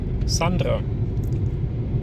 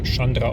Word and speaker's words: Sânandrei: So, willkommen in Sandra. Ja, wird Chandra ausgesprochen, wenn man genau ist.